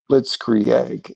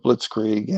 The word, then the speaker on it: Blitzkrieg: You know, Candace Owen is pronouncing things like blitz egg instead of blitzkrieg.